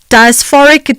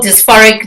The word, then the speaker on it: dysphoric: the pronunciation of uh what is uh known as p MDD Prem menstrual diasporic disorder do I have that correct yeah well it's Prem menstrual dysphoric disorder you said it quite